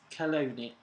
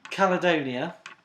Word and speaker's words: Caledonia: what did the ancient Romans come Scotland is Colonia I said it right earlier Caledonia Caledonia which culture is credited to have produced